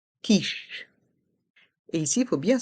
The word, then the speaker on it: quiche: Et ici, il faut bien se rappeler que le Q et le U se prononcent que. Ils forment un seul son. Here we must remember that the Q and the U form one sound. The sound K.